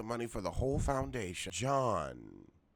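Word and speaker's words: Gian: for the whole Foundation Sean they're pronouncing her name John it's G IA n I'm trying to get the pronunciation right I like her she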